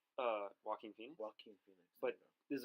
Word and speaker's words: Joaquin: How do you pronounce his name? Joaquin Phoenix.